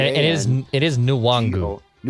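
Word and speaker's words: Nwangwu: is it is nuwangu i know chris longer said the end was silent i don't think he was correct in that assessment according i know i'm not i shouldn't be the one who's critiquing pronunciations and spelling and reading especially his professional tv support it's nuwangu yes according to the pronunciation guide you're correct chris long is wrong yes i think you're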